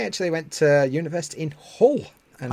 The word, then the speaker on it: Hull: I actually went to university in Hull, and I did my best to pronounce the H at the beginning of that word. Hull rather than Ull, as I would usually say.